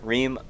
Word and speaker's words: Reem: Now, speaking of Reem, Reem rhymes with stream.